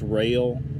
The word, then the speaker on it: Roehl: Hey, Caleb, y'all is taking his CDL permit test Tuesday for, now it's pronounced rail. I don't know how the hell they get rail out of ROEHL transportation.